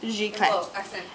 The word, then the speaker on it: giclée: It's pronounced Giclée.